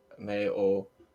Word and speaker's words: Mayo: The name is from the Irish Mayo pronunciation, Mayo, much like the condiment.